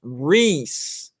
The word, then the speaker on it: Rice: Rice says, from when you asked how to say my name, it's pronounced Reese. Reese. I got it. Like in Reese's Cup.